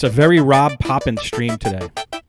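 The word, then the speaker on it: Rob Papen: up Chris foreign Rob Poppin plugins and I believe that is the right way to say his name Rob Poppin people say Rob papin Rob Poppin or have no idea how to say it I think robot Drop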